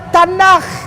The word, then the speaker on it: Tanakh: Dibacanya Tanakh.